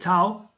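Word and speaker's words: ταυ: people don't read seoul although the ancient greek people call it tao its modern pronunciation has been changed into f and just like this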